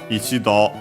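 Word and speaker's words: 一度: repeat it for now ichido uh should always be accent on the door But yeah in this case clearly as simply once one time literally those of Chinese origin.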